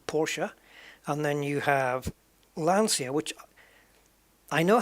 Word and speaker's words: Lancia: do it man that the sea in the eye is like a cher so it's lancia lancia see it doesn't